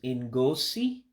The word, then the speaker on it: ngosi: The only special characters and pronunciations for us English as first language speakers is the I. It makes an E sound. Okay. All right. So what you have first is En-Goe-See. En-Goe-See means show.